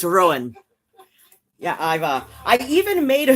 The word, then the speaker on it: Ruadhán: It's pronounced Rowan.